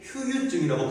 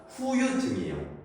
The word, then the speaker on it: 후유증: 후유증은 뭐든지 이걸 사람들이 휴유증이라고 발음을 잘못하거든요. 근데 휴유증이라는 담보는 없습니다. 후유증이에요.